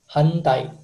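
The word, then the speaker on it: 反対: Kalau di bahasa Jepang, Kalau di bahasa Jepang, cara bacanya hantai.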